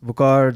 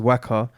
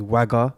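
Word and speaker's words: Waqar: yeah man um so my name is bukar the english pronunciation is waka i don't know why people why my teachers and whatever they always got it wrong with wagga with two you know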